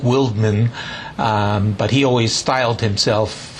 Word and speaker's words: Wildman: edward orange white house his third name was probably pronounced something like wildman but he always styled